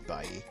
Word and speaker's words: Bailly: His name's Bailly. As in, I'll see you later. Yeah, bye.